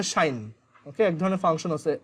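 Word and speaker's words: sinh: তো এটার প্রোনাউন্সিয়েশন হচ্ছে শাইন।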